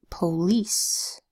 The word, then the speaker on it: police: It can make a long E sound, E, in words like police, spelled P-O-L-I-C-E. Do you hear the E in police? The I is making that E sound.